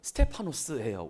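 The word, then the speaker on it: Στέφανος: 스테반은 스테파노스예요. 원어적인 그 발음은 스테파노스인데 예루살렘 최초의 집사인데 최초의 순교자예요.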